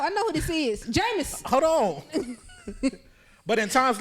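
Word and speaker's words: Jameis: it's jamus j how you say his name jamus Winston jamus Winston all right this is just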